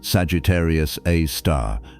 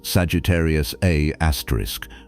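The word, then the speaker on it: Sagittarius A*: Astronomers write it as scur A star and they pronounce it Sagittarius A star not Sagittarius A asterisk though the symbol looks like one.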